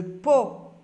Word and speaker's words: pot: l'idé mots d'une syllabe le pot le pot la lettre T est une lettre muette le pot un plat